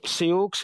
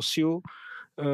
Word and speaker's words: Sioux: To slovo Sioux, jak my říkáme, nebo správně se to vyslovuje Sioux nebo Sioux, vzniklo jako takzvané exonymum,